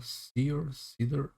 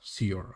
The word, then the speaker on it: Seider: Seider? No, Seider. I think it's Seider. At least in the Norse language, I think that is how it is pronounced.